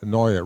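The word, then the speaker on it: Naeye: His name is spelled N-A-E-Y-E, and he says he pronounced that Noya, rhymes with paranoia. And he was the former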